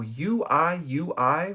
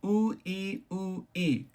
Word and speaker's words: Ui Ui: In Japanese, the U makes an oo sound, like a double O sound. So uiui would be ui ui, uiui. Or wee wee, if you want to say it like that.